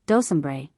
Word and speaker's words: Donzembre: This paragraph refers again to the president, mentioned on page 80, note 2, and to his wife, who was always called Donzembre, pronounced Dosembre, after a property belonging to her husband.